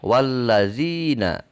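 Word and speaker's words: والذين: Nah, tidak terbaca karena ia ada di tengah. Maka dibacanya wallazina.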